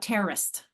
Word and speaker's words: terrorist: when they talk about terrorist, and they talk about a terror attack. I'm like, no, terror, it's 2 syllables. Terrorist, it's 3, but that's not how people speak.